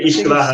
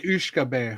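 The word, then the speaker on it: uisce beatha: So and then Ishkavaha. So cool. How do you pronounce that? Ishkavaha. I thought because I thought it was like Ushkabe, but I guess I got that all wrong.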